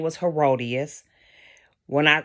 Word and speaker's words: Herodias: name her name was herodias when I when I when I learned the pronunciation of her name the first thing that came to my mind was hideous It came it was like hideous but the wife name